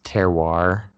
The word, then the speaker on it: terroir: It's terroir is how you pronounce it.